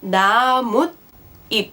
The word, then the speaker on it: 나뭇잎: And this exception is that whenever you have a shiat at the bottom of a syllable followed by an e sound, the shiat turns into an n sound. For example, in words like 나뭇잎, 나뭇잎.